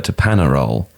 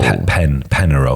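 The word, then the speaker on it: Peñarol: Can I say though that the badge, and this is no offence to Panarol at all. Penarol. Penarol. Yeah. So other than the offence I just caused by pronouncing the team's name incorrectly, it looks like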